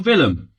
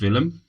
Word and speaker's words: Willem: I presume it's pronounced Willem. Most European sides pronounce their W's as V's, so that's what we're going with.